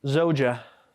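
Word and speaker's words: زوجة: Is that how you say zawja or zawja? Zoja. Zoja.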